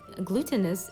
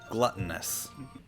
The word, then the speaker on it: gluttonous: Gluttonous. Gluttonous, I was very close. Gluten. You're right, exactly. I'm like, there's one time where that one syllable difference makes it.